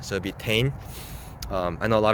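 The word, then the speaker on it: Tein: a japanese company and japanese pronunciation dictates that t e is always pronounced te and then i n will be n so it'd be tane um i know a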